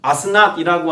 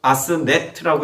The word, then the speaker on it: 아스낫: 그리고 뒤에 나오는 아스낫이라고 하는 이 딸의 이름도요, 네트라고 하는 애굽의 신이 있습니다. 근데 낫이라고 뒤에 이름 붙인 것이죠. 그러니까 아스네트라고 읽어야 더 맞습니다.